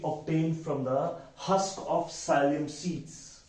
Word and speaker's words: psyllium: Isabgol is a powder we obtain from the husk of psyllium seeds. P is silent here बच्चे.